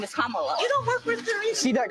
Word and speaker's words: Kamala: how to say her name earlier you said Kamala the way she pronounces her name is Kamala you don't with see that car we have